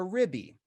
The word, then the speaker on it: RBI: also called a rib you can pronounce that r and b together or pronounce them all a ribby a rib eye or